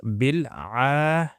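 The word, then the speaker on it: العالمين: Now, this word is actually written with an alif, silent alif, just before the la, okay, the lam. So it's written there. So it's pronounced as bil alamina.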